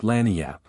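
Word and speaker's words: lagniappe: expressive handy word lanap they pronounce it lanap it is Spanish so they said we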